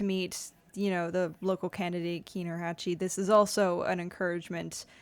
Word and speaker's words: Hachey: It just, my last name is pronounced Hachey. Hachey. It's a French name. It's been Anglicized, but it is a French origin.